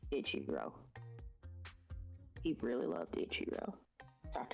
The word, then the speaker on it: Ichiro: Ishiro? Yeah, not how you pronounce his name at all. Ichiro.